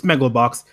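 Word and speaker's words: Megalobox: a new show announcement megalo box Mugello box how do you say it my idea it's Megillah box basically boxing future it's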